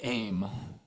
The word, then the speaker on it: aim: The sound here it's the word aim, A-Y-M is how I pronounce it. And it'd be A-M.